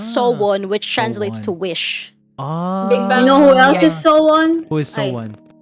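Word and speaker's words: SONE: so this is okay it's pronounced sobun because it implies that Girls Generation will always be one with their fans I'm getting this from the wiki it's so one which translates to wish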